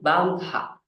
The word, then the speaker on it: bandha: tal de bandra né então é assim que a gente pronuncia tá esse H ele tem um som de R né bandra tá Então bandra nada